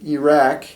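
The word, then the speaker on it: العراق: long a plus q this is how you're supposed to say iraq which is an eye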